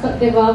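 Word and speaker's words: Côte d'Ivoire: I only learned how to actually pronounce Cote d'Ivoire when I met her.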